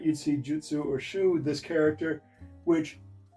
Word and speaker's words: jutsu: Everybody mispronounces jiu-jitsu. Pretty much at this point, reserve jitsu pronunciation for the Brazilian stuff. Jutsu is the Japanese stuff.